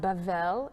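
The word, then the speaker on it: בבל: one land um battle Babble pronounced bevel in Hebrew is Babylon the tower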